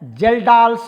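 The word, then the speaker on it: Kjeldahl: पहला होता है जी डुमास मेथड और दूसरा होता है जेल्डाल्स मेथड। ओके, के का प्रोनाउंसिएशन यहां पर नहीं होता है। पहला होता है डुमास मेथड और दूसरा होता है जेल्डाल मेथड।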